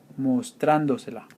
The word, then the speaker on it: mostrándosela: Because you are attaching 2 syllables to a 3-syllable word, you have to add an accent mark on the 4th one from the back to the front. So 1, 2, 3, 4, mostrándosela.